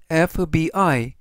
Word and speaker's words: FBI: 두 번째 예시를 보시면 on FBI, 이때 FBI 첫 글자가 F, 비록 자음이더라도 F, 에로 시작되는 첫 발음이 모음이기 때문에 어가 아니라 on을 써서 on FBI, 즉 미 연방 수사국이라는 뜻이 되겠습니다.